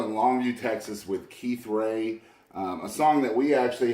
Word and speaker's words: Rea: I guess the first thing is it's pronounced Ray, but it's spelled R-E-A.